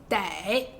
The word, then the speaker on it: 得: 这个字最常用的是 2 个发音，先来讲这个简单的，得。